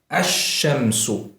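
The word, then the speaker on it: الشمس: The lam is assimilated into the first letter, and the first letter is given shadda. So this is pronounced as ash-shamsu.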